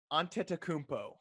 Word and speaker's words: Antetokounmpo: freak yeah you have adam adam can you pronounce giannis's last name very close antetokounmpo what about bams um anything yeah damn uh